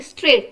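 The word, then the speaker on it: straight: कर देंगे ठीक है हम यहां बोल रहे हैं स्ट्रेट क्या बोल रहे हैं स्ट्रेट तो ये जी जो है जी की आवाज आई हम ऐसे बोलते हैं स्ट्रेक ड ग नहीं बोल रहे ना हम तो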